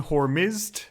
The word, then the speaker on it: Hormizd: Also, just because people might notice, I'm going to go with the pronunciation Hormizd, and that's also the spelling that's in the episode.